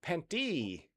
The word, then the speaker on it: pente: And pente by the way is pronounced penty. Penty. I have a pair of pentes. Penty.